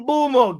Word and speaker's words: Mbeumo: says it's Mbumo. Get out of here. No, like we looked up his pronunciation and he was saying it.